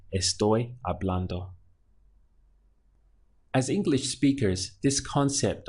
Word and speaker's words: hablando: The word for talking in Spanish is hablando. Again, we ignore this H and just pronounce it from the A. So it would be hablando, hablando.